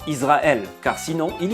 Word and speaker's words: Israël: Selon l'emplacement du point, Nekuda, se trouvant au-dessus de la lettre, celle-ci devient un sin et se prononce donc ce qui est le cas ici. Nous sommes en présence d'un shin smalit, un shin de gauche. De ce fait, ce mot se prononce alors Israël et pas Israël, car sinon il